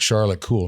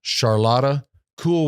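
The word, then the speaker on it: Charlotte Kool: Now, I know you folks at home might have been like, Charlotte Cool. No, Charlotta Cool with a K, which I think is a cool way to spell it.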